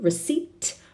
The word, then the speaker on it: receipt: keep the receipt remember we don't pronounce the peel receipt I keep the receipt